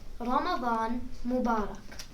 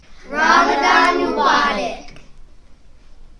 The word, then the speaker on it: Ramadan Mubarak: Ramadan Mubarak. Ramadan Mubarak.